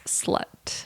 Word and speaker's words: SLXT: It's spelled SLXT, but it's slut.